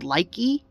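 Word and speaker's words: Likee: little caesars i have this one app called likey uh it's spelled l-i-k-e-e it's basically like tik-tok but it's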